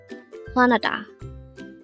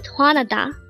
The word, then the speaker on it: 화나다: This pronounces a three-syllable word. The first syllable is hwa, second syllable is na, and third syllable is da. Pronounce it with me. HWANADA. HWANADA. The word HWANADA means to be angry or furious.